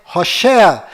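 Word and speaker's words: הושע: Moisés mudou para Josué mas a pronúncia correta de Oséias é hosa e quando Moisés mudou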